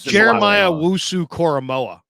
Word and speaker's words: Jeremiah Owusu-Koramoah: And you notice that Okoro, pronounce that for me one more time, Larry. I'm going to get that. Jeremiah Owusu-Koramoah.